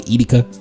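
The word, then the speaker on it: Edeka: People say Etica, but it's really Etica. Drop it in the comments if I said it right. Etica.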